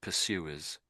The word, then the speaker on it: pursuers: You're doing the R a little bit too strong. I think it sounds a bit American when you're saying it that way. So pursuers, pursuers, pursuers.